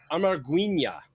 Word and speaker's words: Amarguinhas: The Amarguinhas. Amarguinhas, yeah. Amarguinhas. And that is, by the way, the ya in Portuguese, guys. It's always an H, so it's spelled Amarguinha, Am-are-gween-yas, or ha.